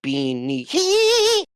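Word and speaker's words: Bean Nighe: You got to go like Bean Nihi. It's kind of like if you look at the Gaelic spelling of like any name, it doesn't sound like it is pronounced.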